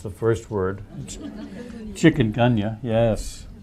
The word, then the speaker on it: Chikungunya: So the mosquito-borne illnesses, you get 5 points if you can pronounce the first word. Chikungunya, yes.